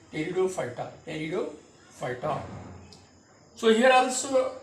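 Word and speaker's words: Pteridophyta: and biggest one that is electrophyta here p is silent p t e r i d o p h y d terudo fighter nido phyta so here also you have to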